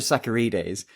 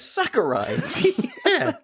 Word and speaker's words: saccharides: I've never heard of sacarides and and yet it means sugar. So I had to type it in and then it came up and I said that says saccharides.